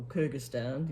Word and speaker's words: Kyrgyzstan: So yeah, I mean, she participates in the women's flyweight championships, and she's from Kyrgyzstan. So, or Kyrgyzstan, if you want to pronounce it that way.